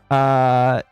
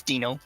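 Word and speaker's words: Deino: Dano, I think is how you pronounce that. It's Dino. Dino.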